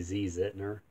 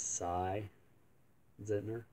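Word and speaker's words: Si Zentner: country in his orchestra I've pronounced that wrong in the past I think I used to say ZZZ it 'nor but I think it's sigh Zentner anyway some good stuff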